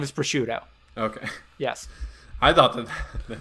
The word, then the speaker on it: Prosciutto: you pronounce it uh wait is the food pronounced pursuit or prosciutto prosciutto his name is prosciutto okay yes i thought that they just [